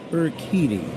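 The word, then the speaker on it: Urquidy: U R Q U I D Y pronounced Eriti and he'll face Tyrone Taylor and then the top of the order Pete Crow Armstrong and Seya Suzuki nothing nothing game.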